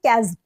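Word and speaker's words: chasm: कर सकते हैं 157 अब इसको हम किस तरह से प्रोनाउंस करेंगे इसको बोलेंगे कजम कजम ठीक है ये एक नाउन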